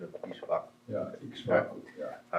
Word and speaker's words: Ikshvaku: He declared it to Manu, and Manu told it to Ishvaku. All right. Is that all right? Pronunciation of Ishvaku. Yeah, Ikshvaku.